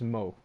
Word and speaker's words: Mau: So that's where Mo comes from, and we're gonna re-educate the world that when they see the letters MAU, it's pronounced Mo.